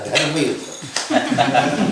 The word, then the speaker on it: dharma yuddha: A is silent. A dharma yuddha.